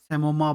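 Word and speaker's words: psammoma: है जिसमें हमको मिलेगी सोमा बॉडीज मिलेगी एस A double M ओ एम ठीक है पी साइलेंट रहेगा यहां ठीक आगे बात करेंगे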